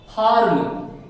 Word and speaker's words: farm: अब यहां देखिए ये फार्म, हमने पढ़ा ना फार्म, FARM, आर आप साइलेंट करेंगे, फार्म, फार्म, फार्म।